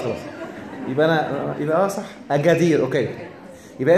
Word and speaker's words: Agadir: طب حلو، خلاص خلاص، يبقى انا يبقى صح، اجادير. اوكي، يبقى انت تكتب بالكاف وتنطق يبقى بالقاف بقى، ما هو القاف خلاص. طيب يبقى هي اجادير، ده نطق بتاعها اجادير. هي بالانجليزي جي، كلمه امازيغيه، يعني ايه بقى؟